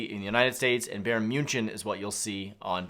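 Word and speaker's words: Bayern München: actually on draftkings it's baron munchen which is how they pronounce it uh in germany uh so don't get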